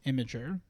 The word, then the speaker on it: Imgur: once in a while imer I believe it should be pronounced imer okay but Jordan in like 2015 said it was pronounced imager okay and that pissed